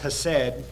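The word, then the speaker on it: חסד: But if the word is translated, it's a Hebrew word, kind of pronounced hesed, but it's translated love, mercy, kindness, goodness, beauty, and steadfast love, as ESV does.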